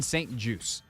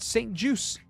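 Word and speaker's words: St-Juste: name is said Benjamin St juice as in a juice box as an apple juice orange juice it is French Canadian uh or Canadian French more specifically uh it is there's no T pronounced this is something that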